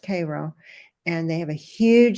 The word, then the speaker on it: Cairo: And she has, they have a beautiful farm up in Cairo, not pronounced Cairo, it's pronounced Cairo.